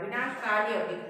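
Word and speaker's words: विनाशकालेऽपि: ये अवग्रह चिन्ह है, ये जो एस की तरह दिखता है इसको अवग्रह चिन्ह बोलते हैं और उच्चारण अ की तरह करते हैं। विनाश काले अपि, अ जल्दी से बोलना है, विनाश काले अपि, अपि नहीं, विनाश काले अपि ऐसे नहीं, विनाश काले अपि एक ही साथ।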